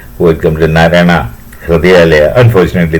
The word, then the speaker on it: Hridayalaya: Unfortunately, that man cannot pronounce Hridayalaya. He says Narayana Hardwar. He is talking about Narayana Hridayalaya as Narayana Hardwar. And he just, even after staying there for 3-4 months for some cardiac surgery, he is still unable to pronounce Hridayalaya. He is only saying Hardwar, and he of course